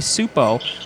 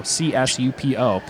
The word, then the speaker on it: Csupo: pronunciation and everything klasky soup oh we got a silent C I guess in soup Oh csupo they actually I can